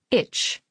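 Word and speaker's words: ITCZ: i t c z pronounced like itch the itch follows the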